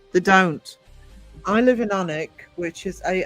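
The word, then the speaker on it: Alnwick: The number of people tourists who come here and call it Alan Wick and it's Anic. You don't pronounce the L.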